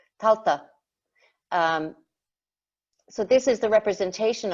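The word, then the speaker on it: Tailtiu: It's quite a weird spelling for anyone who hasn't got Irish, but it's pronounced Taltuk. Talta, not Taltuk. Talta.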